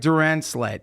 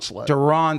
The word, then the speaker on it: Duronslet: in front of hundreds of people sure Derek Duran sled yes sir did I say your last name right that was that close enough just say it say it correctly donet donet sir there you go sorry oh you're